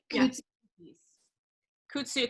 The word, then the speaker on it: Koutsioukis: skipped over that one good couch sue yes okay so it's exactly how it's spelt I always say that